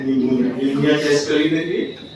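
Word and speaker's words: pneumonia: sound क्या पढ़ जाएगा निमोनिया एय ए ए आई निमोनिया बीमारी है ना ख ख करते रहता सास लंबा चलते रहता है बचा य प साइलेंट होगा इसको पढ़ेंगे प को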